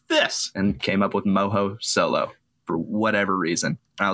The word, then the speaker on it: MohoSolo: MohoSolo. Yep. I was 100% worried that I have been pronouncing it incorrectly this whole time.